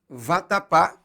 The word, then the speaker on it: vatapá: típico da culinária baiana vatapá tem a última sílaba tônica é portanto uma palavra oxítona terminada em a e por isso ela é acentuada por exemplo se eu